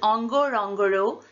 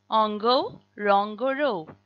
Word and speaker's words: Ngorongoro: When a word starts with ng, as does ngo, rong, goro, you will pronounce that n but without sneaking in a vowel between the n and the g.